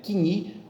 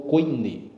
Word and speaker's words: koiné: koiné, ou também conhecido, dependendo da pronúncia aí, o irmão queira adotar o iotista, né, kini ou koiné, ok?